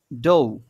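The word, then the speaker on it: dough: এবং এরপরে যেটা আছে খাফ, এবং তারপরেরটা যেটা আছে ডৌ।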